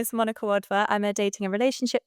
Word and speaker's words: Wadhwa: Today we're here with Monica, is it Wadwa? Yeah, Wadwa, yeah, it's an Indian surname, so it's quite hard to pronounce, but yeah.